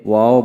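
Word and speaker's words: و: অর্থাৎ দুই ঠোঁট হইতে ওয়াও বা মিম উচ্চারিত হয়। ওয়াও উচ্চারিত হয় ঠোঁট গোল করিয়া মুখ খোলা রাখিয়া, এবং বা ঠোঁটের ভিজায় ভিজায় উচ্চারণ করতে হয়।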